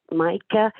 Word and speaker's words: Micah: Micah it's spelled m-i-c-a-h but in Roman orthography which is it would be spelled the way it it is pronounced so m-a-i-k-a that that would be written in Roman orthography which would be m-a-i-k-a very cool so so